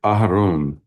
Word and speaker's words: Aharon: Vice Chair Aharon. That's how he told me how to pronounce his name.